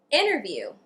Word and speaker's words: interview: Interview. International. Inner. And the second T in Atlanta. I actually didn't pronounce the T at all.